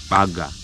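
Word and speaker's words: Bhaga: to pronounce it is oh sorry to spell it b h a g a to pronounce it we say Baga Baga actually it is female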